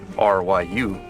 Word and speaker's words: Ryu: Ryu in English and Ryu in Japanese. Yeah. So do you guys have a problem to pronounce, like Ryu sound? I actually did. Before I learned Japanese, I played Street Fighter and stuff, and I always said Ryu.